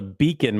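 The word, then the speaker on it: BACN: So Mecca I use something called a beacon mic, but it's spelled weird. Uh beacon mic. It's a B A C N.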